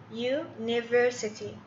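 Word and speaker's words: university: طيب عندي هنا يونيفرسيتي، يونيفرسيتي اليو تنطق على انها يو، ما هي آ، الصوت ما هو آ، إذن احط بعدها أداة تعريف آ.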